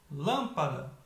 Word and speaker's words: lâmpada: Exemplo, eu separo lâmpada, a mais forte, lâmpada, é a primeira.